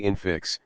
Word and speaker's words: infix: Look thou character, i.e., a word often used by Shakespeare to signify to write, strongly infix, the accent is on the second syllable.